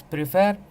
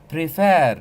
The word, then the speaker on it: prefer: second syllable here listen to me when I pronounce prefer prefer so the focus is on Fair ADM so